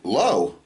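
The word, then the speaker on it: לא: question and the answer is no they say low all right Hosea 13:4 yet I am the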